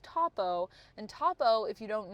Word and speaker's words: Topo: I thought it was Topo every time I read it in the comics, but apparently it's Topo.